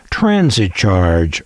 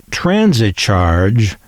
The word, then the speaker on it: Transit Charge: station for their Americanmade Transit Charge radios. That's Transit Charge without an E at the end. the kind of word smart Alex like me would have pronounced transit charg.